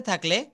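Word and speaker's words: think: টি এবং এইচ একসাথে থাকলে থ উচ্চারিত হয়।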